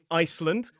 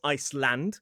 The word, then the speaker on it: Iceland: We have Iceland, not Iceland. There's even a place in England called Sunderland, which is in the northeast of England.